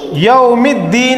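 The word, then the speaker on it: يوم الدين: ठीक है, असल में ये है या जबरिया वाव साकिन यौ मीम ज़ेर में, अलिफ लाम इधर दोनों साइलेंट, दाल पे तशदीद और ज़ेर, या साकिन नून ज़ेर नी।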